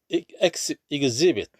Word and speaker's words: exhibit: 자, 그래서 물벼룩이라는 그런 그 종은 exhibit, 자, exhibit이죠. 발음 주의하세요. exhibit 아닙니다. exhibition, 자, 명사일 때는 exhibition 이렇게 발음하는데 동사일 때는 exhibit입니다. exhibit. exist, exist, 존재하다라는 exist랑 같은 발음이죠.